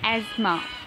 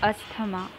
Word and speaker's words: asthma: Now the word is asthma. Remember, it's asthma, not asthma.